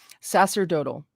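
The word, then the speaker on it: sacerdotal: or the priesthood priestly sacredl that's how she says it okay sasser dotal king the priesthoods of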